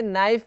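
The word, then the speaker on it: knife: जैसे इसमें नाइफ में के साइलेंट है, नी में के साइलेंट है, वैसे कई बार निमोनिया में पी साइलेंट रहता है।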